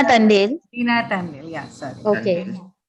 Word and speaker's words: Tandel: It's Reena Tandel.